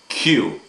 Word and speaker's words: queue: here in the middle q q u e u e really all we pronounce is the q we do not pronounce the u the e the u and the e th those letters just